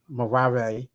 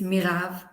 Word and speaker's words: Mirav: So I said Marave, right? I said it right a little bit. No, no. It's Mirav Mira. I got it. with the V Mira. in the end.